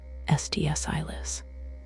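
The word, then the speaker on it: Sts'ailes: of the Halkomelem language, used by the SDSales, pronounced SDSilis, First Nations people of British Columbia, a name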